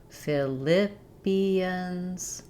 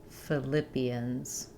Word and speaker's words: Philippians: In Philippians, we have second syllable stress. Again, ph for the f sound. Philippians. Philippians.